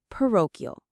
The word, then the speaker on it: parochial: Parochial. Let's pronounce it together. Po. Parochial. The stress is on that second syllable. Row. Pero.